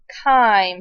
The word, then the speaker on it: chyme: that's turning that bolus into a substance called chyme c-h-y-m-e It's pronounced chyme chyme is a thick kind of